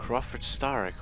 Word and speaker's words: Crawford Starrick: Crawford Starrick almost rhymes with Tony Stark.